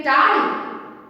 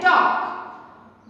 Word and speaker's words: talk: टाल? नहीं, हम इसे प्रोनाउंसिएशन करते हैं टॉक। What we pronounce? टॉक। तो टॉक में वो विच letter is silent? L letter is silent.